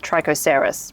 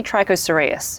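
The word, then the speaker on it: Trichocereus: of the names wrong I say serus and then I will say troser when it should be tros serus same with ainos serus when it should be aino serus don't even get me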